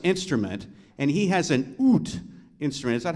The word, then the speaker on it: oud: Middle Eastern influenced instrument, and he has an oud instrument. Is that how you pronounce it?